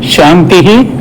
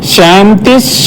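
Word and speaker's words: शान्तिः: So the significance of chanting 3 times Santi Mantra is that Om Shantihi, Shantihi, Shantihi. Visargas must be pronounced. But when you pronounce at a stretch, you can call it Shantis, Shantis, Shantihi.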